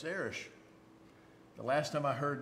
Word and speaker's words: Erich: My name is Eric, spelled E-R-I-C-H. And if you pronounce it in German, it's Erich.